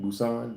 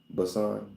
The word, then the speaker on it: Busan: Busousan. Busousan, right? It's Busousan. Busan.